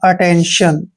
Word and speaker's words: attention: अगर टी के बाद IA, IE, IO, ION आए तो टी को शे पढ़ना है।